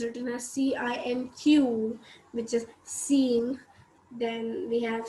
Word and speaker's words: cinq: Then we have 5, which is written as CINQ, which is seeing.